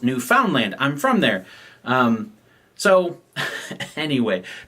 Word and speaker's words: Newfoundland: And it's spelled Newfoundland, right? So it's spelled like Newfoundland, right? But I actually had a listener who is from there and said, the authentic way to pronounce this is Newfoundland, right? Not Newfoundland, but Newfoundland, right?